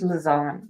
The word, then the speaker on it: Lizanne: Okay, so it's Lizanne, right? I was saying it wrong. Lizanne.